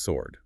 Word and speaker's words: sword: And another key one is the W in sword. It's pronounced sword.